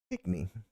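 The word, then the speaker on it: pickney: It's not spelled like it sounds. Because I would think like P-I-T. There's not even a T in there. There's legit no T in there. P-I-C-K-N-E-Y. Pitney.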